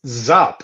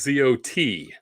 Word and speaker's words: zot: points for that nope um it's zap isn't it spell that for me joel you're in the neighborhood z-o-p sorry it is z-o-t it is z-o-t zot zot zot three zots uh